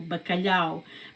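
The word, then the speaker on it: bacalhau: And I have so much more to say about bakalao. So like I said, balao is spelled with b a c a l h au. Bakalao, but bakalao is actually the translation in English is cod is codfish.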